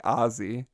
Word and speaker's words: Aussie: despite the distance assi is pronounced like Ozzy Osbourne so Aussie is apparently Ozzy Ozzy then he said